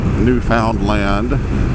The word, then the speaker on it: Newfoundland: me but anyway I've really really been enjoying Newfoundland as it is correctly pronounced and especially the newfound Landers